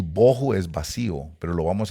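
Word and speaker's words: בֹהוּ: Vacía, H, hebreo, 922, bohu. Algunos les dicen bajú.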